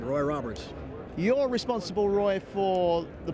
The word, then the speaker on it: Roy Roberts: Have I pronounced the name right? That's right, Roy Roberts.